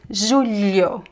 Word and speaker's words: julho: The lh is pronounced more or less like l e It's trickier, but you have to just practice. Julho velho filha l l You kind of have to touch the tongue on your the top of your mouth and slide it.